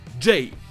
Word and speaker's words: J: de ces 4 lettres, le J qui se dit J. J? All hail J! All hail J! All hail J! Pour vous aider à le différencier du G en anglais, dites-vous que c'est l'inverse du français. Le G c'est J en anglais et le J c'est J. Vous inversez le son I et E de chaque lettre et rajoutez le son de devant, J et J.